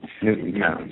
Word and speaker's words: Newtown: with a secondary place out of Newton, Connecticut. It's only a town of 2,000 people. We have to keep... Newtown, sorry. Newtown. We have to make sure we pronounce that right.